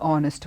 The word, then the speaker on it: honest: is a honest woman but no because H is silent we take the word